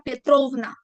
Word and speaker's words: Petrovna: Si el papá es Petro, sería Petrovic Petrovic y en mujer sería Petrovna. El acento en una ovna.